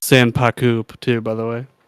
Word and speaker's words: sanpaku: tend to have that Yin underneath it's actually pronounced s paku too by the way s paku paku oh